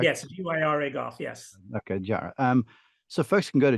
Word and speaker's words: GYRA: At the risk of pronouncing it wrong, it's gyro golf, correct? Yes, GYRA golf, yes. Okay, gyro.